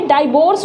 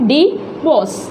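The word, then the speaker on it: divorce: उसके बाद देखिए डिवोर्स, तो देखिए डाइवोर्स बोलते हैं कई लोग, वो रॉन्ग होता है, करेक्ट क्या होता है, वो होता है डिवोर्स।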